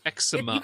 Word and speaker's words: eczema: You pronounce it the same as me, Laura. Yeah. Eczema. Tower 28. All right. So, eczema. I'll accept I'll accept eczema. But most of us just say eczema.